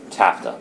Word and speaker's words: TAFTA: united states for that uh tafta transatlantic free trade agreement rhymes with nafta might might sound nice